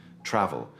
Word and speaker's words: travel: And finally, travel. The A is short and crisp like cat. Travel.